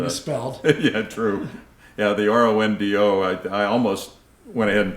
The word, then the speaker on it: Rondeau: But the EAU ending to the name dates back to some French heritage in the family. Pronounced O, obviously. Correct. Not O, but O.